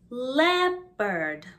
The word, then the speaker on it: leopard: crocodile the o sounds like an a crocodile leopard leopard not leopard leopard monkey monkey not monkey